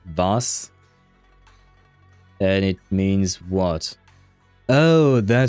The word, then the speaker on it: was: It's not was a like in English, pronounced more like vas.